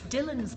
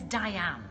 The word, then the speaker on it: Diane: wrong I've been called my name's Diane but people think it's Dylan so for like 47 years since I was six years old people call it Dylan so if the type